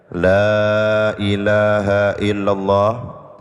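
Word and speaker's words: لا إله إلا الله: rahimahah Semoga Allah merahmati Lailahaillallah yaitu kalimat Lailahaillallah modal kalimata baca panjang yang mesti dipanjangkan la panjang ilaha laanya panjang illallah panjang bacanya Yang benar wirid jangan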